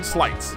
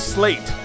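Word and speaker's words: Sleights: then you can learn slights now for the rest of this playthrough after this emergency stream is finished I will pronounce this slate because I am an idiot but it is pronounced slight these are slights so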